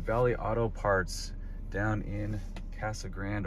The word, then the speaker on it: Casa Grande: auto parts down in casa grande or casa grande depending on how you want to pronounce it decided to bring the